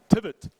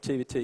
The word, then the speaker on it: TeveT: so it's going to so for the whole series it's going to be T not tvt yeah okay you'll have